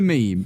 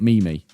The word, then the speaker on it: meme: Here's a meme. You know you're old when dad it's pronounced meme, not mimi.